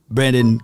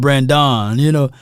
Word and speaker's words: Brandin: Y'all let me know if you know of anybody outside of Brandin Cooks that spelled his name with the I instead of the O. Brandin. Not Brandon, Oh, how many people mispronounce his name?